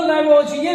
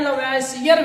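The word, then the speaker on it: Lavoisier: लेबोसिए chemistry के जनक है father of chemistry और इनको लेबोजिए भी पढ़ा जाता है लेसियर भी पढ़ा जाता है लेजिए भी पढ़ा जाता है तो वो अंग्रेजी पर डिपेंड करता है जो उच्चारण पर होता है और ग्रैंड फादर ऑफ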